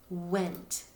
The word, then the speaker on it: went: Many times when kids spell this word went, they actually spell it with an I because when they sound it out, they might say went, went, and they hear an I right there.